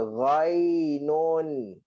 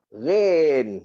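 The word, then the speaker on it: غين: Okey, tapi kita biasa hentam ni je. Rain. Yang senang kan rain.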